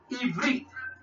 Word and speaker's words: Ivrit: It is Ivrit.